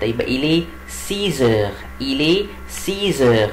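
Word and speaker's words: six: الساعه 6، يبقى الي سيزر، الي سيزر. وخلي بالكم هنا ما اقولش سيس، لا بقول سيز، الاكس بنطقها زد عشان بعدها ان ايه؟ ان فويل، بعدها فاولز، يبقى الي سيزر.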